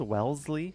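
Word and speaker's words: Wellesley: it's the Zed sound Wellsley not W Welsley right you don't pronounce the S you pronounce the Z or Zed pronounced grer not grer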